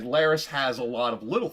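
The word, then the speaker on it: Larys: Chad was saying like Laris has a lot of little finger Vibes and that's true like he's master of Whispers And His Name rhymes with Varys so your mind goes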